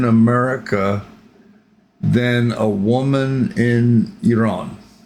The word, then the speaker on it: Iran: And I pronounce it Iran because when I lived in Bahrain, I knew some Iranians, and that's how they pronounced it. So that's why I call it Iran. It's not Iran, it's Iran.